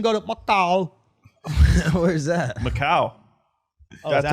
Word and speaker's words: Macau: Macau. Oh, is that how you pronounce it?